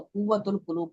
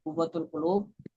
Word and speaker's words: قوت القلوب: یعنی دلوں کی غذا، بعض لوگ اس کو قوت القلوب پڑھتے ہیں۔ قوت القلوب کتاب کا یہ نام نہیں ہے، غلط ہے، درست تلفظ کیا ہے؟ قوت القلوب یعنی دلوں کی غذا۔